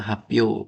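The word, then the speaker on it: 発表: Pio-nya hapyo berhubung di depan jadinya bacanya hyo, bukan pio.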